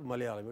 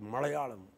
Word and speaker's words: Malayalam: Malayalam has, it's not Malayalam, it is Malayalam.